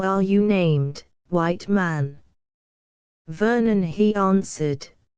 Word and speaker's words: Vernon: "Vernon," he answered. "Vernoon, Vernoon," she repeated, for she could not pronounce the O as we do.